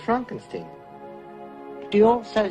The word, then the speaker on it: Frankenstein: frankenstein you're putting me on no it's pronounced frankenstein do you also say frodwick no frederick oh